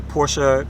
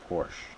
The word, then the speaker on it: Porsche: fourth Porsche vehicle right what is the proper way proper way to say Porsche Porsche Porsche is that right workshop Porsche has a little accent at the end of it you know I feel